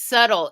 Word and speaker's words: subtle: The lotus just showed itself to me backwards and said it's subtle, which is not the way it's spelled the way I'm saying it, but yes, subtle.